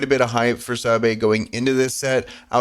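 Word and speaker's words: Sabé: Now that I'm in a video here, I'm going to be self-conscious how to pronounce it. Sabe? Okay, so it's Sabe. According to this, Sabe.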